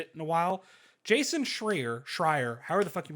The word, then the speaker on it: Schreier: I've talked to him on the phone and I don't remember how to say his fucking name. I He's think told it's me. Schreier. Can we hear about that story?